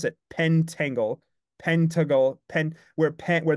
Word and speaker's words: pentangle: we we pronounce it pentangle pentle pen where pen where the the syllable ends at pen but actually the syllable technically right ends at the T so it's a pent